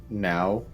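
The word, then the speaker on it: Niall: oh I didn't but my name is now now like n like if you want to spell it out in the Irish it's n i a l l ah no okay oh no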